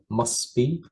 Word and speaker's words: must be: with this one uh the letter T is silent so you can just say must be it must be okay